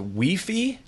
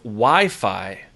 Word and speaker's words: Wi-Fi: you I fi is a we fee instead of Wi-Fi being techie in this side of the world turns on my nerves when I listen to that pronunciation so we fee Wi-Fi